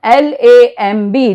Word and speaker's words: lamb: Lamb, L-A-M-B, lamb.